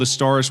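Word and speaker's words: Azstarys: They're called Astaris with a Z. It's spelled like that. There's no ass in there.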